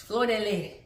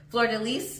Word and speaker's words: fleur-de-lis: It's fleur-de-lis, when you pronounce it the way the French pronounce it. I don't speak French. So fleur-de-lis is how we say it in English.